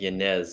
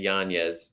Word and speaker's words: Yañez: from you know yanez i probably get like yanez a lot it's actually yanya's but yanez is a popular one um i even think